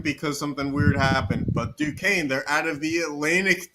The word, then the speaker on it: Duquesne: I can't even pronounce that. Oh, it's Duquesne, Yeah.